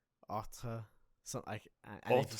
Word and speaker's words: autre: But when it's the mixture of and then the tre that's pronounced not tr or tre or tra. Autre.